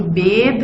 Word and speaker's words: bathe: जबकि ये जो बेद है इसकी अ साउंड आप कैसे प्रोनाउंस करेंगे, जिस तरह केक में प्रोनाउंस करते हैं, बेद केक।